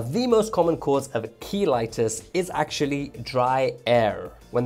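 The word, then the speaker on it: cheilitis: And yes, that's pronounced keitis and not chilitis, which is the medical term for spending a whole weekend doing nothing but chilling.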